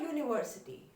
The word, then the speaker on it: university: A university. Why university? Starts again with, pronunciation is coming as if it's starting with Y.